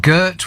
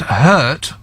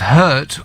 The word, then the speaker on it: Gert: me saying it's not Gert with a hard G it's pronounced hurt this is good builders it's pronounced hurt whilst clearing your throat at the same time I hurt Dutch people